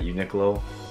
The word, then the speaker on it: Uniqlo: majority of the stuff is at uniqlo at uniqlo is how you say anyways majority of the